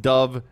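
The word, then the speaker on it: dubh: literally means black pool pronounced Dove meaning black and Lin meaning pool good to know my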